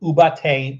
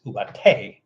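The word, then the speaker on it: Ubaté: u a t and that's e with an accent on it so you know which syllable to accentuate ubat as opposed to ubate it's ubate a little Accent on there u a t e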